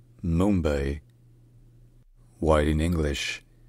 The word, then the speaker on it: Mumbai: locally in the morati language the city is pronounced Mumbai Mumbai white in English it's most common pronounced Mumbai Mumbai all right if you enjoy learning our pronunciations